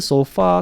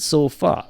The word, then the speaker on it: sofa: or I make the so far out that but if you were to listen to an actual pronunciation of the word especially in American English it's sofa not so far sofa so the transcription